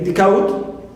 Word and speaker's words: decode: Also, I have the word decode. Clear? Decode. D also is neutral, and code is stressed, as usual.